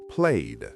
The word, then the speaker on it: played: Play ends with a vowel sound, so played is pronounced played.